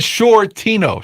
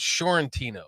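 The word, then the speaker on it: Sciortino: There's no N before the T. I said Shortino. Shore like the shore. But the first time you said Fiorentino.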